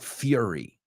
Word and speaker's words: fury: Furia se pronuncia fury, right? Fury, like fuel.